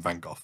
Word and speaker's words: van Gogh: yeah I'm with you I'm vanov well I get a lot of stick for this and even not respecting Vincent's Legacy because of my pronunciation but this is M mainly has come from North America actually and they s on go which I think is fine because that's kind of in the North American culture laps where they've